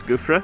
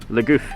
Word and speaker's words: Le Gouffre: We've come down to Le Gouffre, which I used to pronounce Gouffre. Down at Le Gouffre in Guernsey today. But I was told by our friend Ben that that's not how you pronounce it and it's embarrassing, so Le Gouffre.